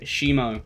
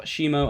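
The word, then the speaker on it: Haemo: And this one is called Shimo. Shimo spelled like H-A-E-M-O, which is relating to blood, you know, hemo, hemoglobin, everything.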